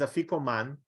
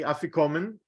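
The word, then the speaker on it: afikoman: in the mishnah it sounds like a Hebrew word is a FICO man in this country most people are going to say africomen and they think it's an English word because it's just a pronunciation like an Yiddish word but it actually comes from the Greek why would you think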